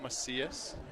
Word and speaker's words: Macias: Is it Macias? That was the pronunciation that was given to me at the game. And there we go. And it was phonetically spelled out for me.